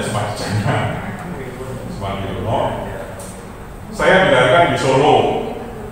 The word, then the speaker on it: Sumardijana: Kalau semula tulisan saya Sumardiono, tapi 3 tahun terakhir menjadi Sumardi Jana. Anak-anak bacanya Sumardi Jana.